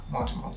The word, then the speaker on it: Mortimer: Mortimer. Yeah, it's, that's it. Mortimer. You have to pronounce the O.